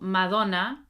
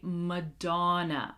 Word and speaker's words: Madonna: You might be trying to pronounce them in English and you don't even realize that you're still using sounds from your native language. For example, Spanish speakers, I don't want to hear Shakira, okay? Shakira, Shakira, Shakira. No, Madonna, okay? We're going to say Madonna, Madonna.